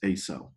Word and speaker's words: AISEW: Our brain is performing a process that I call automatic, involuntary, subjective evidence weighing, AISEW, which I pronounce ASO.